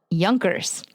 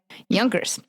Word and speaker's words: Junker: The class called Yunkers which is spelled junkers by the way. Yunkers.